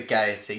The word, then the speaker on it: Gaiety: gonna say they're goatees I think it's gaiety you gotta over pronounce with the IE the gaiety so um which one